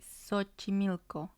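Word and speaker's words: Xochimilco: j sound in spanish the third sound is even less common but it sounds more like a letter s or c for example the city sochi milko so starts with an x but it's rare we're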